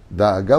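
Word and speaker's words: דאגה: Daaga ou Deaga, on peut le prononcer de deux façons.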